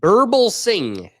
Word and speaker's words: Birbalsingh: Birbalsingh.